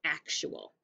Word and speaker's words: actual: It sounds like chew.